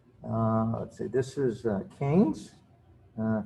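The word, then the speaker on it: Keynes: this is kings uh if you ever forget how to pronounce that word just remember uh what cain said he said he would tell people cain's it rhymes with brains and uh he thought that uh he was a pretty smart guy and he he liked the fact that his name uh rhymed with brains um to understand the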